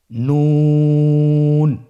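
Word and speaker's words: نون: আপনারা জিহ্বার আগাটা তার বরাবর উপরে তালুর সঙ্গে লাগিয়ে উচ্চারণ করুন এবং আমার সাথে বলুন নুন।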